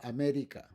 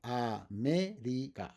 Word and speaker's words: América: Words like that are going to be, for example, América. América. And the stress is in me. América.